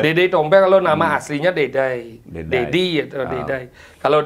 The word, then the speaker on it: Deday: Bacanya Dede. Enggak, karena di Batuyang itu kan bahasanya agak melemet ya. Melemet Dedai. Ya, bukan Dedi dia, Dedai jadinya.